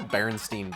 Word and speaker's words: Berenstain: Berenstain. It's still Berenstein Bears. It's Berenstein Bears, but it's pronounced that way. It's just spelled different.